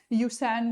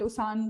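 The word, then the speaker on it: Usain: यूसैन bolt, उसान bolt इनकी pronunciation है, आप सभी ने इनका नाम जरूर सुना होगा।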